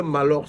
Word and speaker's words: Maahlox: l'armé les gars qu'on parle de malos là prononcer malor là avec beaucoup de